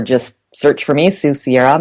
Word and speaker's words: Sierra: search for me Su Sierra my last name is spelled pretty much like it sounds s i e r